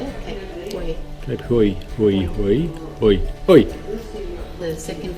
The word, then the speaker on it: Hauy: Cape Hauy.